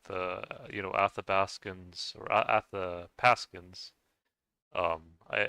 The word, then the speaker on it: Athabaskan: you know athabaskans or at the paskin um I I learned that um that's uh at the pasan even though they're it's spelled with a B you pronounce it like a like a p so that's one thing